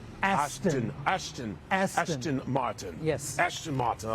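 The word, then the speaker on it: Aston Martin: make sure I say it right Ashton Ashton Ashton Martin yes Ashton Martin I like that and with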